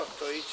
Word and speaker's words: Ostojic: Sí, realmente Ostojic se pronuncia, Ostojic es mi apellido y soy sí, hijo de inmigrantes directos de Yugoslavia.